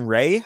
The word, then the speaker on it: Rea: Game two, Colin Ray. I think it's pronounced R-E-A. Yep, Ray.